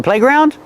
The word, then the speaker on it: playground: Do we stress both syllables? Yes, it's a compound word, so we stress both syllables. Playground. The first vowel is A, like say and pay, play. And in ground, you hear the ow sound like about and around.